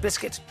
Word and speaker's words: biscuit: What vowel is silent in the word biscuit? U.